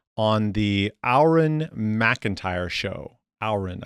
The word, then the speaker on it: Auron: Auron, I think is how you say it.